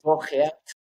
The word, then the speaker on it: Bogeat: la edad de 8 años, tengo a Boguear. bienvenido al podcast. Estoy pronunciando bien tu nombre. El Bogat lo estoy pronunciando bien. Es Bogat.